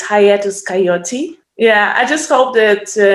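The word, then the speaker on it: Hiatus Kaiyote: i always i'm always afraid to pronounce the name wrong it's hayatus coyote yeah i just hope that ney pal was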